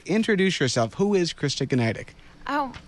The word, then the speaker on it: Gniadek: yourself who is Christa gtic oh my name is Christa gtic John thank you for pronouncing my name right every time I really